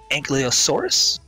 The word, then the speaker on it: Ankylosaurus: It is called an Ankylosaurus. Ooh, that's actually not the bad. Yeah, I actually nailed that pronunciation, surprisingly.